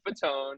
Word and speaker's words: Fatone: As for my handle, you can find me on Instagram at Fatone, and its last name is spelled like Fat One, and or Joey Fatone. Fatone like Joey Fatone.